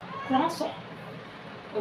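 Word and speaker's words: croissant: अब देखिए क्रोइज़ो को हम फ्रेंच में क्या बोलेंगे, क्रॉसॉन। ओके, क्रोइज़ो को हम फ्रेंच में क्या बोलेंगे, क्रॉसॉन। क्रॉसॉन इट्स अ करेक्ट प्रोनाउंसिएशन।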